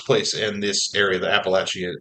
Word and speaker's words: Appalachia: thing it's takes place in this area, the Appalachian Appalachas.